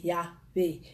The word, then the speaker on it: Yahweh: Yahweh, ça veut dire Yahweh avec 4 syllabes. Le Y, le H, le W et le Y. Le Y, le H, le W et le H.